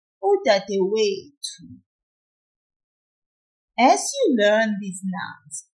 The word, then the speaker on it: udadewethu: A sister in isiZulu is udadewethu. The last syllable here is tu, that's T-H-U. The one before it is we, the W-E. That's the one we pull a little. And so we say, udadewethu, udadewethu.